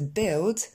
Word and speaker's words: build: C'est construire, to build, qui se prononcera aussi en « et ».